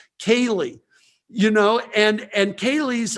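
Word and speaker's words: ceilidh: see how it's spelled there and how it's pronounced kaylee you know and and kaylie's are these little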